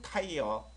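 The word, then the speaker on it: tire: 별거 아닌 거 같죠 맞아요 아이어예요 그럼 타이어 타이어 타이어 그죠 타이어음 자동차 타이어가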